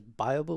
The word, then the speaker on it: Byobu: There's also a tool called Byobu, and I'm used to pronouncing it as Byobu, which is wrong, so sometimes I'm going to say it wrong.